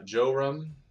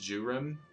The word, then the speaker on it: Jurim: So Joram went ahead and gave orders to all his troops to start prepping everything to go to war. It's Jurim. I've been saying it wrong, which is fine.